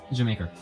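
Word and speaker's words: D'yer Mak'er: Jamaica. Spelled D''Yer'Mak''Er. Pronounced Jamaica.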